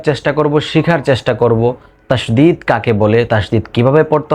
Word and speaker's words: তাশদীদ: মুখস্ত করে রাখতে হবে অনেকে তাশদিদ বা তাসবিদ বলে এটার সঠিক উচ্চারণ হলো তাশদিদ তাশদিদ ঠিক আছে তো